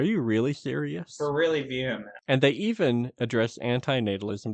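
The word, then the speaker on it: VHEMT: Taking from their website, Vehement provides a series of questions and answers that helps explain their philosophy. Question: what is the voluntary human extinction movement? Vehement, pronounced vehement, is a movement, not an organization.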